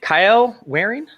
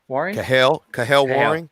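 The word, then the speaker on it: Kahale Warring: Kyle Waring? Cahill Waring.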